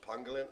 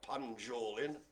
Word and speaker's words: pangolin: uh the pangolin and it is pronounced pangolin i know that it's not pan jolin or pan pangolin oh brian and anthony